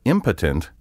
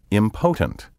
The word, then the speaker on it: impotent: For example, impotent is often mispronounced impotent.